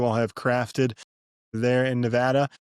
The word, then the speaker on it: Nevada: up in the Northeast, one of the first things I had to hard trade myself on was it's Nevada, you dummy. Yeah. say it right. It's Nevada.